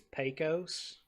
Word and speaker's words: Pecos: on this one but I believe the pronunciation is Pecos oh oh I'm you're right I got to bring my my Southern say like you got to say like the same pecan oh there's a good